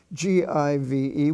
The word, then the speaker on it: give: spelling family you have g-i-v-e which is pronounced give or l-i-v-e which is pronounced